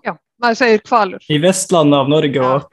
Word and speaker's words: Hvalur: Ja, för det känns Honfridur, för Honfridur du uttalar h:et som ett kvalur var väl. Det är inte ett stumt h. Ja, man säger kvalur.